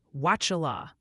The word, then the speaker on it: Wauchula: It's pronounced Wauchula. Emphasis on the first syllable.